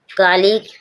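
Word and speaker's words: colleague: कालीग, कालीग means साथी, कालीग, कालीग means साथी, जी के बाद यू आया, जी साइलेंट, यू साइलेंट है।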